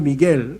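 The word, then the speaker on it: Miguel: 근데 이 마이클이라고 하는 영어 발음이고, 이것이 이제 예를 들면 라틴어로 가면은 미켈이 돼요. 미켈. 그 다음에 스페인어도 미겔, 그 다음에 이탈리아로 치면 미첼, 또 프랑스로 가면 미셸 통통한 미셸.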